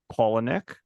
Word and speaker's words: Palahniuk: on a book which was written by Chuck colonic if you were curious how to say his